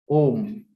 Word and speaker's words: Om: Om. This is a very short syllable. A, U, Ma, and nasal sound.